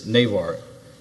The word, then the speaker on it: Navar: was granted based on please pronounce your name for me so on the record I didn't venture to pronounce it sure it's Navar thank you okay so